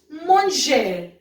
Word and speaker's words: manger: Now, for example, we have manger. Manger. Manger means to eat, and ranger. Ranger. Ranger means to be tidy. Okay. So now j'ai. The sound has been manger, ranger. R is silent. Please be careful.